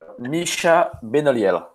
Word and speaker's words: Micha Benoliel: Can you say it for me so I can get a little better at my French pronunciation? Sure. Micha Benoliel. Micha Benoliel.